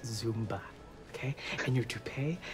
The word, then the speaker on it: Zumba: It's really like, it's pronounced Zumba, okay?